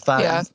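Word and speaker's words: Faist: Do we know how to say his name? Feist. Is it Feist? I think it's Mhm. Feist. Okay, he's Feist.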